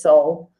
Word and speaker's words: Seoul: The written spelling is Seoul, but the pronunciation is Seoul.